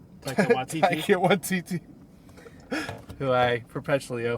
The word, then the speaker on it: Taika Waititi: You have Tahiki Wahata, Taika Waititi.